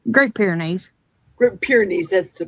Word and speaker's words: Great Pyrenees: Great Pyrenees, that's the pronunciation.